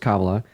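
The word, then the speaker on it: Kamala: tariffs first of all her name is pronounced Cala then second of all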